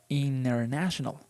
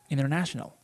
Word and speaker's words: international: Or international. International. International. So you can say international, that is okay, perfectly acceptable, but the more natural way is international.